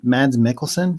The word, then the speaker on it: Mads Mikkelsen: was a tv show and i am mad mads mikkelsen is that how you say his name yeah